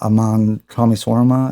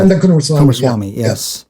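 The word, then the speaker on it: Ananda Coomaraswamy: stuff and Frithjof Swan and Aman Kumaraswamy. I can't pronounce his name correctly. Ananda Kumaraswamy, yes.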